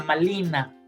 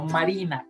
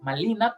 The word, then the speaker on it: Malina: Y a la niña Malintzin le llaman la niña Malina, no Marina, Malina, porque los nahuas no conocían la R. Entonces, cuando llegan los españoles, todas las palabras que tenían R las pronunciaban con L.